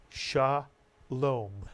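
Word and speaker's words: שלום: The word is read Shalom, Shalom.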